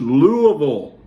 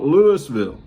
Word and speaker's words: Louisville: his own intense exchange this happened in louisville not lewisville if you've ever been to louisville you know it is pronounced louisville not lewisville a group of black